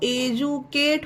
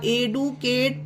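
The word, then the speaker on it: educate: अब D word में कहीं पर भी हो सकता है, पर डी के बाद ही ए टी ई आया तो एजुकेट होगा। एडुकेट पढ़ना गलत होगा इसे।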